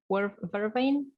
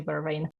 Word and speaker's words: vervain: ridiculous like urban officinalis vervain i think it's pronounced is it it's probably vervain um it's actually called